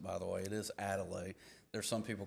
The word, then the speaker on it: Adelaide: Um, that is the way you pronounce it by the way. It is Adelaide. There's some people call it Altier.